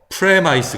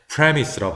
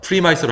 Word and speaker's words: premise: 근데 이 경우에 뭐, premise 그러면 안 된다는 거죠. 강세가 있고요. 요건 강세가 없죠. 자, 강세가 있을 때에는 요게 그 알파벳 발음대로 읽는 게 음가 없는 이가 따라 나오니까 아이스로 읽을 수 있는데 강세 없기 때문에 그냥 이로 읽어요. 요거는 강세가 또 있으니까 없으니까 이로 읽고 있으니까 에로 읽죠. 그래서 premise입니다. 전제, 어떤 일에 대한 전제라고 할 때 premise라고 발음, premise로 하지 않도록 합니다.